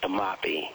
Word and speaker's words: Timothy: Timothy. Good morning, gentlemen. It's spelled like Timothy, but it's pronounced Tamapi.